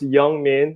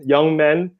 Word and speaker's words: YoungMin: is yeah young man just like how it's pronounced young man young man but with an eye that's how I always